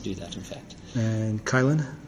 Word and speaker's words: Kylin: that in fact and kylin uh chilin is just a chen see I can't I don't I don't do the opinion pronunciations yeah it's uh it's Chillin CH chill um it is a